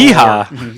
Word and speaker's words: Yeehaw: You got to put the right emphasis on the right syllable, and it's the ha in that one for sure. Yeehaw. Ye is merely the ramp up. Ha. That's where you bring it home.